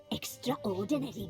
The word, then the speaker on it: extraordinary: Extraordinary girl. But you know... I have never heard anyone pronounce it as extraordinary. Such Not a shame extraordinary. she fled. No one acknowledges the A in extraordinary.